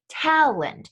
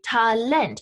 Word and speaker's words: Talent: s in contrast though the english loan word talent right is being emphasized on that second syllable not how we say it in english in english we say talland in german you say talent and because of this